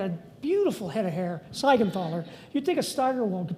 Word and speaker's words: Siegenthaler: Siegenthaler. You'd think a Steigerwald could pronounce the guy's name right, although it's constantly misspelled.